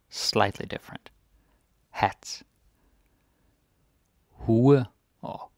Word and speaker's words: hue: Hue or hua.